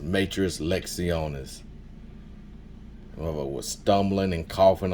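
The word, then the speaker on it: matres lectionis: Everybody who knows it's pronounced Matras Lectionis.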